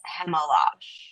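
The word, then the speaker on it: Chmelar: Yaroslav Chemel That is how you pronounce it. c h m e l a r but it is Chemel.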